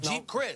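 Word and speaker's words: Geep Chryst: But Colin Kaepernick, the quarterback, has an offensive coordinator in Jeep Christ. I believe that's how you pronounce his name. Right. It's G-E-E-P, Yep. Jeep Christ.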